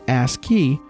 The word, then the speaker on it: ASCII: the American Standard Code for information interchange and pronounced ASCII requires only 7 bits for each character for